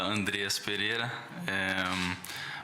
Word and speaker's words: Andreas Pereira: que todos querem saber como se pronuncia o seu nome então meu nome fala Andreas Pereira mas eu entendo se falar no início um pouco errado mas ao longo vão